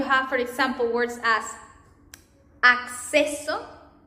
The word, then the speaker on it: acceso: And in double C, you are going to pronounce this double C in Spanish as you pronounce the X in Spanish, in English.